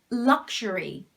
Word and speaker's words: luxury: in luxury is o the second one is kind of silent you could also pronounce it like a schwa sound but mostly it's not